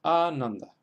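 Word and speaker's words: Ānanda: Y en el caso de Ananda, estamos acentuando en la segunda sílaba porque a la na le siguen dos consonantes, na y da, las consonantes nd. Por tanto es Ananda.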